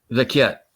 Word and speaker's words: Vecchiet: CC is pronounced key.